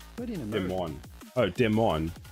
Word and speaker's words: Des Moines: This is a city that was originally, it was incorporated in 8, would be said Des Moines, but in America. Des Moines. Oh, Des Moines, like Moines. So Des Moines, like that.